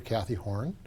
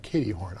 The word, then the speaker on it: Caity Horne: on community engagement with Officer Kathy Horn. I've said that wrong. Katie Horn. I am sorry. Don't get it all the time. It's okay. It's spelled a little bit differently. So, yes.